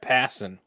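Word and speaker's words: Passan: something they need so Jeff passon who like passing of basketball that's how you say his name in case you didn't know not pan Jeff Jeff pan thank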